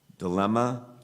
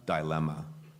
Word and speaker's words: dilemma: contestant number 77 Alston your word has two correct pronunciations dilemma dilemma I remember this award